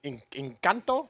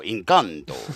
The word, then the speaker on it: Encanto: Yeah, you said it wrong. Encanto? No, Encanto.